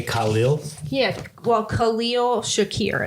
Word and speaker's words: Shakir: name it starts with what Shakur yeah Shakir is the last name I the first name